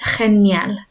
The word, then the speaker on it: genial: This is genial. So not je or g, with a ch sound. Okay, genial.